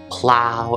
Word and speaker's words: plow: are though and do next up we have the ow sound you'll hear this in words like bow plow and drought next up is the